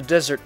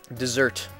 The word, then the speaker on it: dessert: what she said shortcake from the desert parlor dessert my bad pronounced that wrong what's wrong rumi you